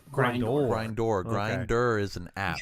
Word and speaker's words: Grindor: Grinder? It's spelled grind and then O-R. Grindor.